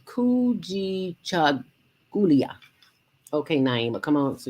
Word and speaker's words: Kujichagulia: The Kujichagulia. Yes. Kujichagulia. Kujichagulia. Self-determination. Yes. Yeah. Yeah, I'll let you say it. Chagulia. Kujichagulia. All these words are in the Swahili language.